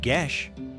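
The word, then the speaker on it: geis: Because of the power of the geese, pronounced gish.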